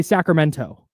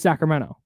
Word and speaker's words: Sacramento: It's just Sacramento. No, that's true. And the way she speaks is proper, so she wants to pronounce the T. Oh. And she had to train herself to not say the T.